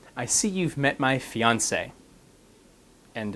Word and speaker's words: fiancé: If it's a woman, it has two E's, but it's pronounced the same way. So fiancé, you say my fiancé, it's the person that I'm getting ready to get married to.